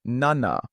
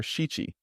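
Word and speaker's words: 七: lines song number four the common pronunciations are yon or she but yon is more common in modern Japanese yo and number five number six number seven the common pronunciations are Nana or shichi but nana is more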